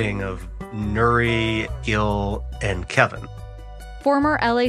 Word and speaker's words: Nury: that good okay until now my name is Nuri and it's spelled n-u-r-y how do you introduce yourself as